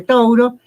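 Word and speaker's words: Touro: era tono pero bueno en inglés toro no se dice se dice tauro está en newport y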